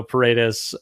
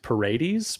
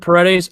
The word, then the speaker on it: Paredes: his last name isaac i went paradise but that is absolutely wrong i think i don't correct i said paredes and i know this